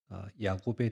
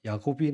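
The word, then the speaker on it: יַעֲקֹב: 어 야곱이 나오면서 형에서의 그 발꿈치를 붙잡고 나옵니다. 그래서 붙여진 이름이 야곱. 그 원으로 정확한 발음은 야코브입니다. 아 그 뜻이 뭐냐면 뒤에 있다.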